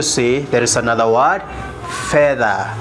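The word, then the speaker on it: fedha: going also to see there is another word feather feather feather spells f-e-d-h-a which means silver silver and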